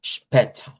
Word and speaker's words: später: Vea, cuando vemos así, si yo digo bis später, hago esta A hacia adelante. Eso es lo que me da, digamos, la transcripción, en la transliteración al español, pero la transcripción fonética me dice no, es una A centralizada.